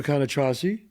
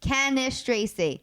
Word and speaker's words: Cannistraci: Cannistraci. I said it right now, right? No, it's 7 years of not saying it right. Cannistraci. Cannistraci.